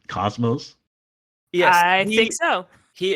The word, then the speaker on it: Cosmos: The way that the guy was pronouncing it made me think it was Cosmos, like Kasmas. No, it's Cosmos. It's Cosmos. Yeah.